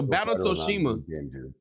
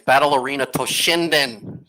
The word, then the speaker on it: Battle Arena Toshinden: had another game so battle toshima battle toshima arena hey Shadow are you there you're saying it wrong it's battle arena toshinden listen I'm not I'm